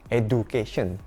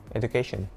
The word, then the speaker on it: education: Nah, kebanyakan orang Indonesia kalau mengucapkan kata ini, bilangnya education. Education. Padahal, ini harusnya pengucapannya education. Pakai J, education.